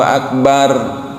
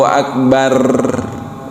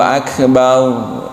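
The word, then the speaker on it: أكبر: Seperti kita kan sering membaca Allahu Akbar gitu. itu jangan jangan dibaca Allahu Akbar. Nah, gitu. Jadi getarannya tuh jangan tebal tapi cukup sedikit saja.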